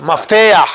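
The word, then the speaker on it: מפתח: Maftuh. Meftah. Mafteah.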